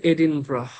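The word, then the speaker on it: Edinburgh: স্কটল্যান্ডের capital city এডিনবার্গ লেখে এডিনবার্গ উচ্চারণ করে এডিনব্রাহ এই জিনিসগুলা আমি যদি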